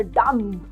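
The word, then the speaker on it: dumb: Calls कि यू आर डम। डम। तो आप उसको बोले कि हम don't you know call me डंप डू you know कि डंप में ब साइलेंट होता है।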